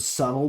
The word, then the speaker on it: subtle: Don't be Don't be somebody who like literally mispronounces the word subtle because they've only ever seen it spelled and never spoken and then when you find out the B is silent still going on about because you're a Yeah, he's being very chaotic.